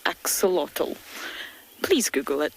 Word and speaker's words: axolotl: and if you've never heard of it before it's spelled e x o l o t l axolotl please google it it's really entertaining and while